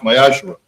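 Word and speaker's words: מעשר: Also in the book of Malachi, chapter 3, verses 8 through 10, which means the 10th in Hebrew and is pronounced Mayashra.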